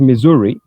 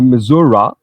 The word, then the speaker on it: Missouri: وفيها النص تاعها في un état اللي هو الميزوري، يتكتب avec 2 S mais يتنطق ميزوري. les gens تاع الميزوري يقدروا même يقولوا ميزورا.